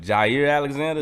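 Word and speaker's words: Jaire Alexander: But Jair Alexander, is that how you say his name?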